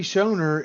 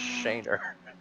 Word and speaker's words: Schoener: he's getting towed andy schoener is like the the godfather of tyler daniels racing and back charities so i hate to be the aficionado of last names but it's actually pronounced shaner i'm i'm just gonna